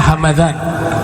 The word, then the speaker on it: Hamadan: Bacanya Hamadan, ya. Kalau Hamdan nama suku, kalau Hamadan nama kota, maka mimnya dibaca fathah, Hamadan. Kalau Hamdan mimnya dibaca sukun, Hamdan ismu Gobilah.